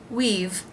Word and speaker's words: we've: and the v consonant it's pronounced just like this word weave we've we've been waiting they